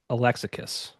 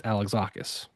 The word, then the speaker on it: Alexakis: And like looking back on it now, I I I pronounced it Alexakis. And it's Alexakis.